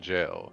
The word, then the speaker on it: gaol: And so eventually we reach the destination and arrive into the jail. And it's spelled GAOL. It's the old spelling for it.